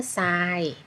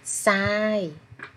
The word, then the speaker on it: ทราย: ต่อ ไป เขา มา ทราย คำ ว่า ซ้าย ทร ออก เสียง ซ อ้อ นะ คะ ทราย คำ ต่อ ไป คำ ว่า สร้าง คอม อ.